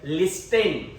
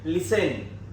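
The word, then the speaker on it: listen: আমি এইটো সব আমি নরমালি যদি উচ্চারণ কৰিব যাও লেটাৰৰ সাউন্ড হিচাপত এইটো কিন্তু আমি পঢ়িব লাগে লিস্টেন, কিন্তু আমি জানো বা এইটো আমি পঢ়ো কি ধৰণে লিসেন। তাৰ কাৰণটো কি আপোনালোকে লিসেনে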